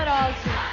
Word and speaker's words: Arósio: Ana Paula Arosio Arosio, very good!